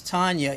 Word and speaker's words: Tanya: They always want to just say, well, no, you're not pronouncing the A. It's still Ah. So it's Tanya E.